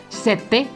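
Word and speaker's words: sette: muy importantes por ejemplo la palabra sete significa el número 7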